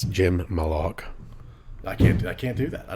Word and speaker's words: Malaugh: It's Jim Malaugh.